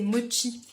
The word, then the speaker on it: mochi: Et encore on dit mochi mais en vrai c'est mochi, parce que c'est CH.